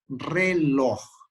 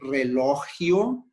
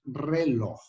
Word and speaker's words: reloj: Prestar atenção à pronunciação. Reloj. Não é relógio, não é relojo. A pronúncia dessa palavra é reloj.